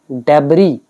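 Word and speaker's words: debris: इसका प्रोनाउंसिएशन होता है डेब्री, एस आप प्रोनाउंस नहीं करेंगे।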